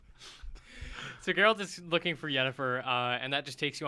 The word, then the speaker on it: Yennefer: Yennefer is missing. Her name's Jennifer. You're mispronouncing Sorry, it.